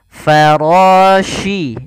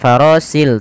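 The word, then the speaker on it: فراش: Farashi. Ini hati-hati, di sini huruf shin, bukan huruf si. Bukan farasil, tapi farashi.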